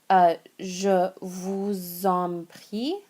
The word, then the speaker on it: je vous en prie: If you want to say you're welcome, the first one here that we have, je vous en prie.